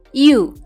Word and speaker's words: you: Cara membacanya, you. Gampang ya cara membacanya. Walaupun dalam tulisannya ada huruf O, yaitu Y-O-U, tapi huruf O tidak usah dibaca ya.